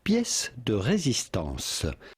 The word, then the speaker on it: pièce de résistance: In French, this would be said pièce de résistance.